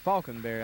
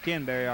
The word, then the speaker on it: Falconberry: One thing, we mispronounced one name there. Some of the Gray fans told us number 24 is Margaret Falconberry, I believe, instead of Margaret Kinberry.